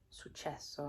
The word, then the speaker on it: successo: successo, I think. Pronounce the S properly.